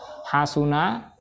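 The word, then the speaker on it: حَسُنَ: Hasuna itu mengikuti wazn fa'ula, dan seterusnya.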